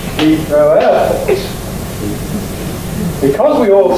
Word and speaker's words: Heathrow: Is it Heathrow or is it Heathrow? Well, I say Heathrow, and it comes as a surprise to you. And indeed, the traditional pronunciation has the main stress on the row.